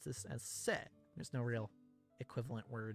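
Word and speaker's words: せ: Pronounce this as se.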